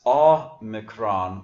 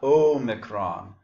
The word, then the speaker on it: omicron: So we pronounce this omicron, not omicron, because the omicron sounds like aw, not the O coming at the end, omega.